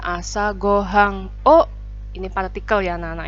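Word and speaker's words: 朝ご飯: ini materinya adalah judulnya asagohan yah Ini bacanya assago hang oe ini partikel ya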